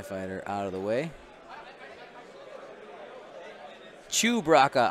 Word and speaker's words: Chewbacca: Chewbacca. I'm sorry. I always say it wrong.